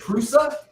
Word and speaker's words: Prusa: nylon printing on the first crusade is it prusa yeah like i think you're pronouncing it correct okay but yeah so when